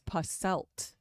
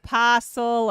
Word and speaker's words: Posselt: Colin's name is Posselt, and everyone mispronounces I know. it. He They never, say puzzle or puzzled or and I asked him one time, I'm pretty sure I'm right that he said it's Posselt. Yeah, I mean, he never corrects anybody.